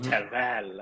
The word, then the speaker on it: Terfel: So before Cheryl, it was Bryn Terfel, right? Or Hmm. Tervel, as he likes to say it's pronounced.